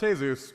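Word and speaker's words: Jesús: business Vasquez the Sun jesus Santana it's pronounced hey-zeus and I don't know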